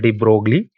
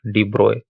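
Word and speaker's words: de Broglie: volt thus we need to find the corresponding Deep Roy wavelength and let me tell you again this is not called de brogli but it is pronounced as Deep Roy so Libra wavelength would be H by p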